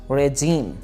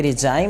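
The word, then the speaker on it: regime: Next word is रेजीम। हुकूमत की English होती है, वैसे तो गवर्नमेंट भी है, लेकिन इसके अलावा हम इसे रेजीम भी कहते हैं। रेजीम, ये रिजाइम नहीं है, रेजीम।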